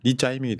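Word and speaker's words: 李在明: 노엘이가 다체로운 선동과 리짜이밍 리짜이밍 이재명 대표 중국식으로 발음하면 리짜이밍 되는 거 예 유명한 사건은 무면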